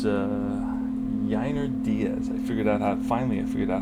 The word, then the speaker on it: Yainer Diaz: And it's Yainer Diaz. Finally I figured out how to pronounce his name against Clark Schmidt.